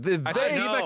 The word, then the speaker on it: Vivek: I will say though, how can none of you guys pronounce his fucking name, for the love of God? Vivek Ramaswamy.